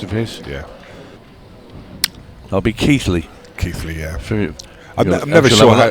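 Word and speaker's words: Keighley: I was never sure how to pronounce it. Keithley, lad.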